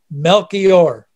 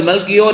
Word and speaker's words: Melchior: my closest Jewish rabbi friends is named Michael Melchior. Michael மெல்கியோர் என்று சொல்லி அழைக்கப்படுகிறதான என்னுடைய நண்பர்களிலே இவரும் மிக நெருங்கிய நண்பராக இருக்கிறார். அவர் ஒரு யூத ரபி. You can look him up on the internet. Michael Melchior என்கிறதான இந்த ரபியை நீங்கள் இன்டர்நெட்ல பேர் அடிப்பீர்கள் என்று